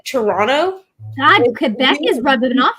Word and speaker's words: Toronto: pronouncing it incorrectly and you're not supposed to pronounce that second T you don't pronounce half the letters okay you said Toronto God Quebec is rubbing